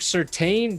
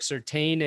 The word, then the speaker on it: Surtain: Patrick Surtain dropped a vlog on YouTube, so I want everybody to get at Patrick Surtain and his mentions on Twitter and tell him to collab with me.